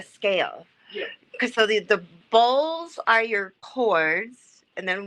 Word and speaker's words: bols: Bowls. B-O-L-S. Bowls.